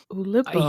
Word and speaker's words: Oulipo: Oulipo, actually, it's pronounced. Oulipo.